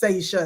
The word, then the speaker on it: Saisha: So I'm like, it's Saisha, Saisha. So it was off of sassy.